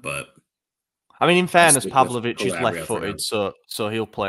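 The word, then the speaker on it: Pavlović: Because if it's Pavlic, is that how you say his name? Pavlovic.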